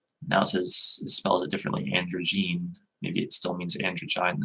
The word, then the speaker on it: androgyne: Looks like it's androgen, I think. Hang on. Androgyne. Oh, androgyne. Okay.